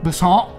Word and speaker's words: Besson: We talked about Lucy, Luc Besson, rhymes with croissant.